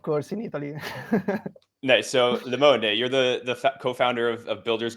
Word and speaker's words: Limone: Limone, right.